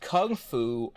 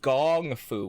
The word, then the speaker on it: kung fu: In Bruce Lee's time, in the 1970s, the word kung fu could be pronounced kung fu, or it could be pronounced gong fu with a G, which Bruce himself often did.